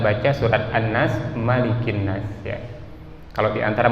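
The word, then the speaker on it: مالك: Lanjut, Maliki Yaumiddin. Ma-nya dibaca panjang, beda dengan kita baca surat An-Nas, Malikin Nas ya.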